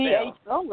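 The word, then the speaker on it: phở: but it's spelled, how was it, P-H something, P-H-O? What was it? How does that soup spell? P-H-O. I'm not sure. I thought it was pho. They say it's pronounced pho.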